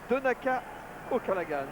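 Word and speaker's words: Donncha O'Callaghan: Donaka auagan. Ah oui Donaka, vous prononcez bien ?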